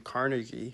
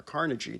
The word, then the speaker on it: Carnegie: A man named Andrew Carnegie, or Carnegie, depending on how you want to pronounce it, was the richest man in America to ever live.